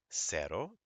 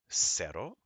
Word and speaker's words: cero: Ka as in Casa CE goes SE as in Cerro c i goes c as in Circo goes CO as in Coco CU goes KU as in Kubo so we have casa cero Circo and again please